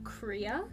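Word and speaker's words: Croía: And it's spelled way differently than it is phonetically spelled. Fair enough. You can give me that spelling if you'd like. So, the name is Korea. Korea. And it's spelled C R O I A. And there's a tilda on the I. It's an Irish name.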